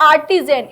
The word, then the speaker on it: artisan: आर्टिजन, इसका pronunciation होता है आर्टिजन, ARTISAN।